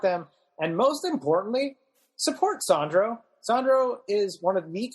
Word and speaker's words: Sandro: My social media is at Sandro, not Sandra, or at Sandro, not Sandra, depending on how you pronounce things.